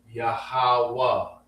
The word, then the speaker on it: Yahawah: You say Yahawah almost like we say Sheniqua. You know what I'm saying? You ever heard Sheniqua? You don't say the Hi at the end of Shenika's name. The high is silent.